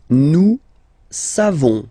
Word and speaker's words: nous savons: Nous savons. So classic ending for nous, O-N-S. You don't pronounce the final S.